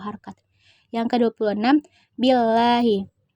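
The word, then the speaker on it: بِاللَّهِ: Yang ke-26, billahi. Hukumnya tarkik, karena lafaz Allah didahului oleh huruf hijaiyah berharakat kasrah. Cara membacanya tipis.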